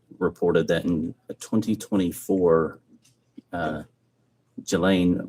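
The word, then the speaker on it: Ghislaine: Um, as best as we know, it's been public reported that in 2024, uh, Gilain Maxwell or Gileain, I think is how it's pronounced, arranged and wired $1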